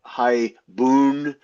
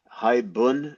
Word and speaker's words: haibun: I've heard, high bun. I've had high boon. High bun is the way I learned it.